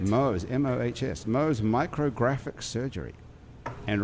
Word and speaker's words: Mohs: The center specializes in Mohs. Is that how you pronounce that? That is correct. Mohs, M-O-H-S, Mohs micrographic surgery and reconstruction, as well as the latest minimally invasive cosmetic procedures.